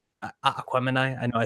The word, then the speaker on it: Aquemini: I'm like listening to Aquamini, like Aquemini. I know I said it wrong. I Aquemini, say Jesus. Aquamini. Yeah, I've always said Aquamini. I know it's Aquemini.